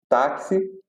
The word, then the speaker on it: táxi: saber, tem quatro letras, só que o X ele tem som de KS. É como se e nós falamos táxi, se escreve táxi com X, porém esse X tem som de KS, como se ele fosse duas letras.